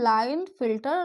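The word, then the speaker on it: Klinefelter: देखिए के यहाँ पर साइलेंट होगा, इसको पढ़ते हैं लाइन फिल्टर सिंड्रोम।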